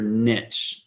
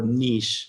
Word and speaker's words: niche: to talk about is your niche and or niche depending on how you want to pronounce it so I've been to